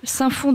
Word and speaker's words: Saint-Fons: Est-ce que le S se prononce? Non, il ne se prononce pas. Saint-Fons dans le Rhône, où il fait très très chaud, il va faire très chaud cet après-midi.